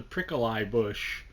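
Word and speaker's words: Prickle-Eye Bush: five as they pronounce it's spelled the prickly bush but they call it the prickle eye bush i love that and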